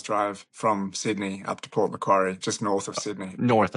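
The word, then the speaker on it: Port Macquarie: Now, the town that you grew up in, what how do you pronounce it? It's uh Port McQuary. McQuary. Okay. Port McQuary.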